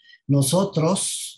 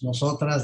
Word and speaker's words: Nosotrxs: mucho gusto esta oportunidad nosotros nosotras nosotros cada quien lo pronuncia como quieres una tercera o por una equis podría ser una a con una equis hemos tratado de hacer